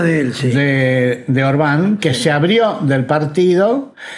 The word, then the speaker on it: Orbán: Caí viendo que es Orbán con acento en la A.